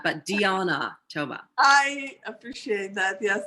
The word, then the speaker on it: Diana: is diana thomas not diana but dionna toba i appreciate that yes i'm originally from romania so this is how you pronounce spelling like diana but